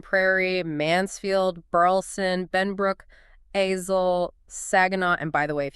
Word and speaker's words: Saginaw: But then we have Arlington, Grand Prairie, Mansfield, Burleson, Benbrook, Azle, Saginaw, and by the way, if you want to flag yourself as an outsider, pronounce that last one wrong. It's Saguna. Saguna, yes.